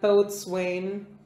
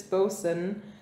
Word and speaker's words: boatswain: i'm never gonna because every time i read that word i'm like both swain honestly i feel like most people don't know how to pronounce the word pronounced that way nobody cares no but it's important okay captain flynn and billy bones the ship's boson no yes the ship's